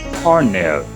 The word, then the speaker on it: colonel: l keeping this in mind colonel is to pronounce cornell cornell cornell cornell not colony about carny because